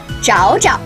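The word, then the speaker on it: 找找: third tone means find can be reduplicated as zhao ja note that the second jiao is pronounced in a neutral tone look my boyfriend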